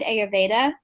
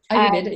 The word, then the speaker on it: Ayurveda: Ayurveda? Ayurveda, yeah.